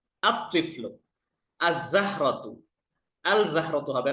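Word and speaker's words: الطفل: এটা লেখার ক্ষেত্রে আরেকটা ফর্ম ঠিকই আসবে কিন্তু উচ্চারণে কি রকম হবে আত্তিলমিজু দেখেন তিফলুন এই যে তিফলুন আত্তিফলু আল তিফলু না আত্তিফলু আযাহরাতু আল জাহরতু হবে না আযাহারাতু রজলুনের শুরুতে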